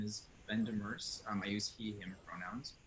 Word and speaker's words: Demers: The name pronunciation was perfect. So my name is Ben Demers.